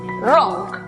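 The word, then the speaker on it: wrong: que se escribe notamos que hay w antes de r al comienzo de la palabra por lo tanto es muda además es una sílaba cerrada por lo tanto aplicamos el sonido cerrada de la uv la pronunciación para la palabra equivocado entonces es rock la palabra arrebatada que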